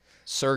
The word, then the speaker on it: Suhr: I'm not going to say Tressart. Sur guitars. Okay, tell me more. SUR. How do you spell that?